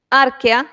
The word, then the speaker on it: archaea: Arquea, se escribe archaea, pero se lee arquea, bacteria y eucaria.